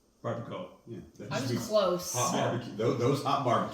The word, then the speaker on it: Barbacoa: Just like don't know how to pronounce this one, but Los Calientes Yep. Barboca. Barbacoa.